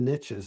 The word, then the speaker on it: niche: Well, you caught me at riches in the niches. I like that. That's a soundbite. Even though I would pronounce it niche, but I know, but where you can eat the niches, it works.